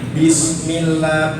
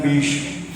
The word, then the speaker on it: bismillah: Baru bismillah, bismillah, bismillah. Sinnya sambal, jangan bish.